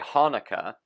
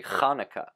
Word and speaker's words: Hanukkah: like Hanukkah for instance Americans would say Hanukkah but more of a correct pronunciation would be Hanukkah Hanukkah now I as